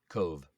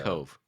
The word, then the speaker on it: Cobh: from oh interesting hold on how do you pronounce that Cove like uh Cove yeah like like but it's spelled CEO MB